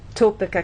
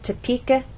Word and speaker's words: Topeka: So we do not say Topeka, Kansas. The correct pronunciation is Topeka, Kansas.